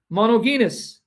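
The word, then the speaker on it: μονογενής: I know in Greek you don't pronounce the G, right? It's monogenes. Monogenes.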